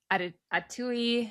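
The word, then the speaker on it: Attaoui: You have Mohamed Atui. I always want to say it rhymes with Ratatouille.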